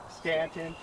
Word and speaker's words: Staunton: and what looks like new Staunton is Stanton what looks like my